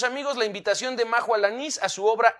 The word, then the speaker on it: Alanís: Yo estoy en Instagram y Facebook como Majo Alanís, con acento en la I, Majo Alanís.